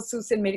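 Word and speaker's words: Sault Ste. Marie: Salt's train made it call it as a Susan Mary on Charlie because when I was in Canada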